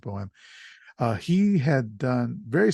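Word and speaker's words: Boam: written by Jeffrey bohem the b-o-a-m I believe it's pronounced bohem uh he had done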